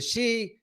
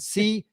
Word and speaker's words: Xi: He wrote, he said the she, because I used to say she, he said, think of it as letter C, C. in English language.